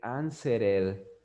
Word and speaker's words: answered: Entonces la ed nada más se va a pronunciar como una D. Entonces usted esa palabra en el pasado no va a decir answered, no va a decir answered, no va a decir answered. Usted va a decir answered. Solo va a pronunciar la letra D.